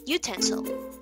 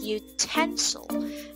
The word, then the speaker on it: utensil: this word okay so some of you pronounced it this way you cancel you cancel utensil just say utensil there so the stress should be off the